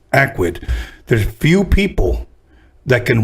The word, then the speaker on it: Akwid: She gave me the CD, and I saw Akwid, and I remember the way she pronounced it. It's Akwid.